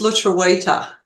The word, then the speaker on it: lutruwita: It's lutruwita.